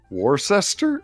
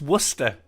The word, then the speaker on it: Worcester: i'm done mutual forfeit it is actually pronounced worcester there's not enough there's too many letters for that you guys usually add syllables how are you cutting